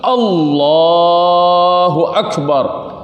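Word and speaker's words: الله أكبر: Wa an la yamudda hamzah, dan tidak boleh memanjangkan hamzah. Allahu akbar, nggak boleh kayak begitu. Allah, nggak boleh kayak gitu. Tapi harus langsung Allahu akbar, ya. Nggak boleh Allahu akbar, nggak boleh. Ini cara bacanya harus benar.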